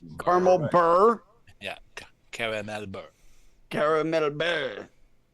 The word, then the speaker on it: beurre: Burr like coal. That's how it's pronounced. Caramel burr.